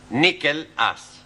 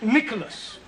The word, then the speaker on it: Nicholas: upon a time there was a man called nickel us once upon a time there was a woman called nickel it's pronounced Nicholas all right once upon a time there was